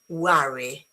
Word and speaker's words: worry: Do you think this word um no this word this one is different is pronounced worry worry as in London company some okay London company some worry so not worry uh Oh, worry.